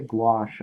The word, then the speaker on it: gouache: Which is a material, you spell it Gouache, gouache.